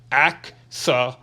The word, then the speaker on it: axolotl: In case you're wondering, my name is pronounced axolotl. Axolotl.